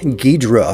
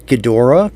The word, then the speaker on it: Gidrah: a 1350 scale King gadra from Bandai yes I said gadra not gadora because that's how it's spelled apparently there is a